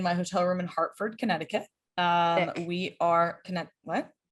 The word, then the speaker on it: Connecticut: were correcting me on saying kinetic kit like i said it wrong um yeah it's actually connecticut if you yeah that's